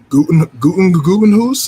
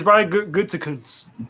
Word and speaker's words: Gutekunst: Gutenhuis, is that his last name? Gutengoose? Gutenhuis? I got it's idea. Brian Good. No, it's Brian Gutekunst.